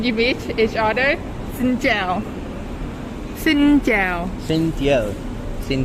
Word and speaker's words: chào: Jia Bu Sang. No. Chào. Chào. Tiao. No tell. It's chào. Chào.